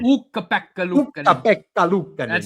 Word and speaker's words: Ukko-Pekka Luukkonen: It's Ukko-Pekka Luukkonen. Ukko-Pekka Luukkonen. Ukko-Pekka Luukkonen. That's how he pronounces it.